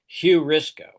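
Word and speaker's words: εὑρίσκω: It's not rough breathing but the next one is hurrisco hurrisco. And it's it's rough breathing. So I'm pronouncing it hurrisco.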